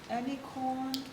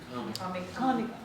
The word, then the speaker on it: Comic-Con: And he studied internet interest communities, fan fiction, Amicon, am I pronouncing it right? MovieCon, it's like this kind of cute thing. Comic-Con, yeah, thank you.